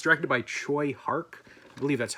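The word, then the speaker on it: Tsui Hark: I didn't see it on this VHS specifically, but yeah, it's directed by Choi Hark. I believe that's how you pronounce his name.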